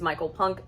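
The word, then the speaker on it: Michael Punke: I found out that I was saying his name wrong. It is Micheal Punke.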